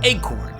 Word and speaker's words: ACoRN: AC o n R or egg corn as its name appears to be pronounced this a corn whatever